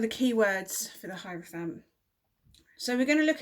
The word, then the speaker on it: hierophant: today which is the hierophant i think that's how you say it but i'm not 100 sure it's either he referent or hierophant so i've gone with hierophant because it sounds like hierarchy which is one of